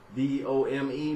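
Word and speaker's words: Dum: Not sure which deity that will be related to, but you also got like dome, like my dome, D-O-M-E, but it's not spelled like that. It's spelled D-U-M, dome.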